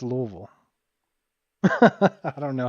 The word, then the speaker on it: Louisville: you know it's it's it's not Lewisville it's not Louisville it's Louisville I don't know how